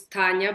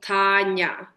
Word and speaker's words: Tanya: is Tanya um people kind of call me whatever Tanya or Tanya but it's kind of right in the middle my dad when he tries to tell people how to say it's t a h so TAA and then perfectly